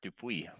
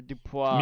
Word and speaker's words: Dupuis: Oh, somebody's Muke that rhymes with puke said, "What's that piss in a can?" BS. That's Dupuis. Yeah, it's Dupuis or Dupois.